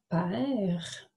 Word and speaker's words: père: Alors, lorsque je le dis à l'oral, je vais dire « père ». Nous n'entendons pas la lettre, la dernière lettre à la fin, parce que mon E fait chanter la consonne. Alors, on entend juste le R, père.